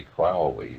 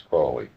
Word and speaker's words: Crowley: that I am holy my enemies say crowley and wish to treat me foully So now you'll let us forget how to pronounce it. It's Cly.